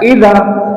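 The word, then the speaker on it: إذا: Tapi kalau yang di belakang diberi tanda fathah, dibaca idza, menunjukkan peristiwa yang akan terjadi.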